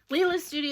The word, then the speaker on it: Lila's Studio: Lila's Studio is the correct way to pronounce it.